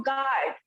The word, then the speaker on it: guard: Next देखो गार्ड. GUARD गार्ड. यहाँ पर भी U साइलेंट है.